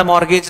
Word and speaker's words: mortgage: मॉर्गेज लिखो, मॉर्गेज spelling देख लेना मॉर्गेज की, पढ़ मॉर्गेज रहे हैं टी को साइलेंट मान के, क्या क्या अत्याचार हो रहा है हम ही जानते हैं।